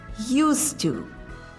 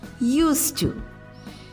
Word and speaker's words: used to: It's pronounced with an unvoiced S or S, which merges with to without any D sound. So we have used to.